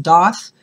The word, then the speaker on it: daith: looking it up is that it is actually pronounced DAF but many people will say dey same with the conch it is pronounced conch